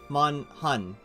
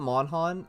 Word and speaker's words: MonHun: mon han yeah um mon hun see i call it mon han and like that's the mistake of me it's not it's not